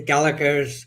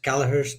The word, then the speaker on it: Gallaghers: So, the um the Gallaghers Gallaghers, depending on your um your pro- pronunciation. I believe Americans emphasize the G. Whereas in Ireland, we tend not to.